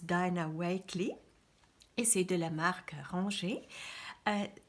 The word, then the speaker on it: Dina Wakley: par l'artiste Dina wake en anglais ou le prononce dynawakley essaye de la marque